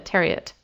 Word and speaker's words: Terriot: for the Environment and the Terriot Foundation, rhymes with chariot, and then some smaller private groups.